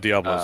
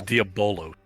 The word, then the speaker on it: Diabolos: but you're pronouncing that it's not Diablo it's diabolos how do you want